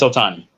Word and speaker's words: Ohtani: Ohtani. It's Ohtani.